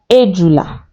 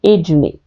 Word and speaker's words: ejula: Snail is ejula. Ejula. Snail, ejula. Some people say ejune. Ejula, ejune.